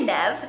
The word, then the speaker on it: Neve: jenna and neve now i had to make sure that's how you say his name because i would say nev but it's nev i asked jenna multiple